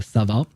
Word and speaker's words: Sova: I do recognize the Sova, S-O-V-A, which means owl, but it's actually pronounced more like a Sava.